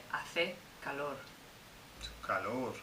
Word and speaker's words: hace: Hace.